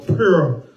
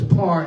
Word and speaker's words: pur: Or pure, par in the ancient Paleo Hebrew. It's spelled pure here, but it's par in the ancient.